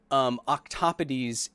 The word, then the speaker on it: octopodes: Yes, if you really want to be pedantic about it and annoying, octopodes is an accepted pronunciation of octopuses. I mean, it's an accepted pluralization of octopuses.